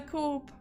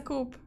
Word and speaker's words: coup: a sonism yeah and I kept pronouncing it as a Corp so so from now on it's a coop this was not intentional